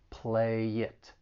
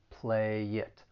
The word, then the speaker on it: play it: some linking going on the final consonant sound in play can get linked with the vowel sound in it play it play it let's play it by